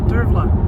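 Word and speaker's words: Dearbhla: Dura.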